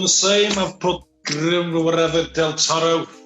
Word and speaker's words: del Toro: I just put G del Toro. A nice, neat abbreviation. Billy? I've done the same. I've put whatever del Toro. Just roll your R's a lot.